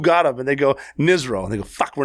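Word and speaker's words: NSRO: But it was funny because my nickname was Nizro, N-S-R-O, Navy SEAL Rob ONeill. And it's pronounced Nizro.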